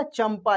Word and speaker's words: चंपा: लिखा हुआ यह लिखा चंपा यहां पे उच्चारण करके देखिए इस बिंदी को हम लोग माप पढ़ रहे हैं क्या पढ़ रहे हैं एम पढ़ रहे हैं चंपा चंपा एम का उच्चारण हो रहा है रंभा यानी खाने